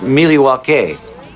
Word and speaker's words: Milwaukee: Actually, it's pronounced Milywake, which is Elgangquin for the good land.